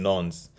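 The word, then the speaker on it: nonce: we have also called a nuns spelled it is spelled n-o-n-c-e in nons so what what this is basically is a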